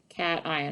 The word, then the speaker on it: cation: yes it's called a cat ion very good cation i know it looks like haitian but it's pronounced cation significant figures significant figures